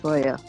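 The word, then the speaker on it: cholla: how it's spelled it's not obvious but it's pronounced Joya it's a cactus carcass when the cactus dies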